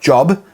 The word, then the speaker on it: Job: in the Book of Job it's not job it's job that's how you say it now we have to